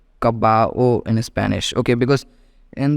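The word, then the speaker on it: caballo: okay gato horse called kabao in Spanish okay because in the last point I think I just told you that Double L is silent whenever it appears in the word it can be written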